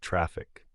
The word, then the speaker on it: Traefik: these Services efficiently enter trafic pronounced traffic traic makes life easier